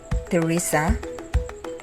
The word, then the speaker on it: Teresa: the letter h in thomas is not pronounced the same is true with teresa turis and thailand here are the